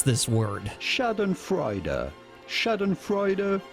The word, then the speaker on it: schadenfreude: to pronounce this word shadon freuder shadon freuder in English in German it would be something along the lines of Shaden freuder so there we go